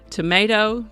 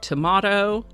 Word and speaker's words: tomato: Tomato, tomato. Merriam-Webster assures me that either pronunciation is correct, tomato or tomato.